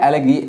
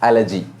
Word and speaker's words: elegy: Right now एलेगी हम actually बोलते हैं एलेगी, लेकिन इसका करेक्ट प्रोनाउंसिएशन है एलेजी.